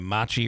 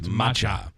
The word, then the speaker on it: matcha: correct it is it's I was calling it Machi earlier it's matcha uh the matcha uh latte